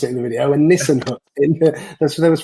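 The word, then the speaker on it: Nissen hut: a Nissan hut complex, not a Nissan hut, as I pronounced it in the video, a Nissan hut.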